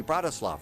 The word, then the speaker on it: Bratislava: Bratislava, right? Bratislava? The A is silent at the end.